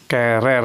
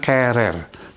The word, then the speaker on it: querer: Nah, ini bacanya querer, bukan querer, tapi querer. U-nya tidak usah diucapkan, ya. Jadi diucapkannya mulai E-nya ini, querer.